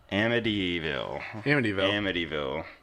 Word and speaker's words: Amityville: Just pretend the T is a D. Amityville.